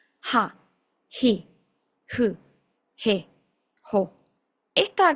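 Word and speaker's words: は: Ojo acá porque la H es expirada, como si fuera la H del inglés. No es una H muda como en el español. Entonces, vamos a pronunciarlas. Esto tiene que salir como un suspiro, como un soplido.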